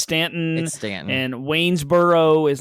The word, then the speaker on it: Staunton: know how to pronounce staunton is pronounced stanton and waynesboro is like